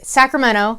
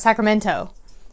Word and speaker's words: Sacramento: is from the area whether or not they pronounce the T in Sacramento so I say it's Sacramento like LMNOP it's not Sacramento if you pronounce the